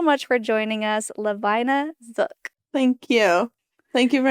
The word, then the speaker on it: Zook: And so that's how they would pronounce it in the Swartzentruber, Zook. But English people say Zook. So we're going with Zook because that's the right way.